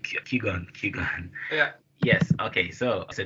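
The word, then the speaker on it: Qui-Gon: like setup where Obi-Wan and how do you pronounce the name kugan kugan yeah yes okay so so then they get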